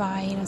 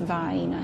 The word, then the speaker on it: Vienna: I know it's Vienna, but that's part of the regional dialect. It's pronounced Vienna here. Why? I don't know. I didn't make the rules. I was just born here.